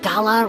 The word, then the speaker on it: gala: Isn't it weird how the word gala rhymes with voila, like a big performance reveal?